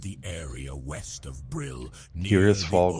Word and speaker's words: Tirisfal: Tirisfal Glades. I had said it wrong for like 20 years. I always said Trisfal.